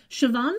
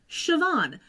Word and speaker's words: Siobhan: let me quickly tell you about the actress Siobhan Flynn has 36 acting credits so far starting back in 1996 mostly TV shows that's it but can I just tell you that Siobhan I looked at that name SI o bh